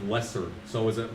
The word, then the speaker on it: Lessard: I always say Raphael Lassard, because, like, it rolls better with Raphael. But it's like Lessard.